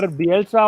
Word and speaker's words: Bielsa: His exact name is Bielsa or Bielsa, or how do you pronounce it?